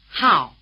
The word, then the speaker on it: Hào: Hào, Hào, Hào The diphthong "ao" is spelled AO as in "Mao Zedong", in Chinese: Máo Zédōng, Máo Zédōng Try repeating.